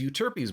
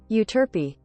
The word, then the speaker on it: Euterpe: Yumi's bow is Euterpe's bow. Is that how you pronounce that? Euterpe.